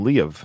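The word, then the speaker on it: Liev: Ed pronounced his name Le of by the way like he actually gave it two syllables really yeah in his book so maybe that is how it's pronounced I've always said leave shriber too I think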